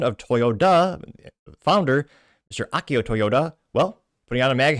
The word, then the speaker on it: Toyoda: Toyoda.